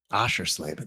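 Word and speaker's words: Oschersleben: We'll see you next Thursday in Germany at Osher Slaben for round nine. Asher Slaben. That's how you say it.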